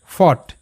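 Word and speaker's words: fought: বি এর sound ব ইউ জি এস টি এর উচ্চারণটা অট ব অট বট যেমন ছিল থট একইভাবে বট তারপর ফট এফ ও ইউ জি এইচটি ফট এফতে ফ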